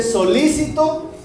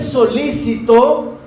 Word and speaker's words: solícito: algo estoy pidiendo algo pero este solícito tiene una tilde en otro lado y se pronuncia diferente Ese solícito es que está dispuesto